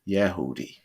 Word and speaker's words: Yehudi: also called Judah sites or jehudi pronounced yehoodi all such people those